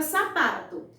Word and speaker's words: sapato: A sílaba que eu mais demorei pronunciando, gente, foi a sílaba pá. Então, se eu passei mais tempo pronunciando a sílaba pá, então a sílaba pá é a sílaba tônica da palavra sapato.